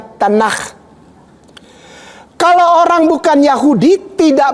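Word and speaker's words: תנ״ך: TNKH dibacanya Tanakh.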